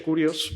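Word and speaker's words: κύριος: Se pronuncia Kurios, pero se escribe Kyrios.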